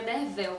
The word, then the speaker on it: Derfel: que deveria ser pronunciado a pronúncia correta né seria derel com v a história também é